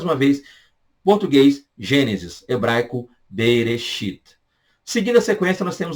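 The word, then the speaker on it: בראשית: Mas eles chamam esse livro de Bereshit. Gênesis, português. Hebraico, Bereshit.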